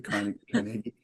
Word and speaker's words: Carnegie: I think it's the Pittsburgh people pronounce it, Andrew Carnegie.